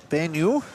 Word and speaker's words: Banyule: From Banyule.